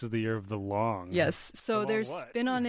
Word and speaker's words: Loong: means dragon in Chinese yes the transliteration although it's spelled kind of of oddly they've introduced it as l o o n g l o o n g but the word is long so it should only